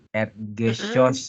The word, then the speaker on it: Erdgeschoss: Itu bacanya gimana, Rin? Langsung ini aja ya, Bat ya. Erdgeschoss gitu ya.